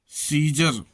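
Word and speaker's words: Caesar: ए silent, ई से पहले ए प्रायः साइलेंट रहता है, जैसे सीजर।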